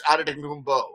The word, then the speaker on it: Antetokounmpo: It can either be Poe or Beau at the end. But I go by the NBA's official pronunciation with Beau because I don't want to get fired anytime soon. So I do what they tell me to do, right? It's Antetokounmpo is what I would say at the end.